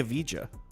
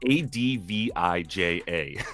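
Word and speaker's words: Avdija: you say his name I always say aija uh yeah it's a DV ja oh I always said aija I guess I Israeli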